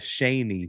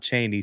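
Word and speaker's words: Chaney: Shaney is the way you pronounce it. The EWU fans will be mad. Shaney, not Cheney. Shaney.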